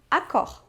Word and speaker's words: Accor: mas atenção às vezes quando uma palavra se termina em R Nem sempre mas às vezes você deve pronunciar o resto é o caso de Dior e Accor aquela famosa regionais quando